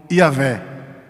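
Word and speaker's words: Yahweh: a pronúncia dos hebreus a pronúncia dos profetas de moisés dos juízes dos reis de israel se dirigiam a deus como e aveh e não é um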